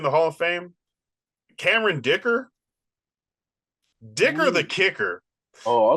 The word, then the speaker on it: Dicker: Dicker the Kicker. It's so explanatory. It rhymes. Dicker. Yeah.